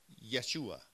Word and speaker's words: Yeshua: Jesus is English but in Hebrew there's not that J sound it's Yeshua okay and so it